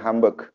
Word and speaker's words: Hamburg: negaranya khususnya untuk orang-orang hambek jatuh kalau burger jadi hamburger enggak Dewi bacanya HAM bek ambek itu nanti ada